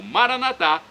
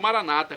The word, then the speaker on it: Maranata: e agora do aramaico Eu Clamo maranat como dizemos nós católicos ou Maranata como dizem nossos irmãos separados os evangélicos ou protestantes não importa a pronúncia o significado é o mesmo Vem Senhor um dia